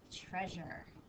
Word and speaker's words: treasure: like this a we've got a quiet a here just like in measure treasure treasure measure and measure both have that that a that we really don't hear meure treasure but there's a silent a that sneaks in on both of those all right go ahead